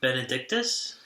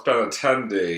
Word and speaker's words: Benintendi: Was it Benedictus? Incorrect. First of all, it's Benintendi.